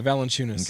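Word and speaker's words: Valančiūnas: Like, I think his name's Valanciunas. Is that how you say it? Yeah, Valanciunas.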